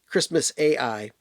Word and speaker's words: Xmas AI: My favorite songs on here are Xmas AI. It's spelled I, but it's Christmas AI.